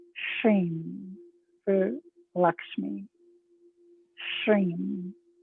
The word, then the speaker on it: Shrim: On the left side of the brain, connecting with the Bija sound, Shrim for Lakshmi. Shrim. S-H-R-I-M, often it's spelled S-H-R-E-E-M is how it sounds.